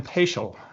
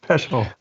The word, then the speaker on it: Paschel: All right, here we are with Sam Paschel, and it's a good thing I checked with him on the pronunciation because I would have said Peschel.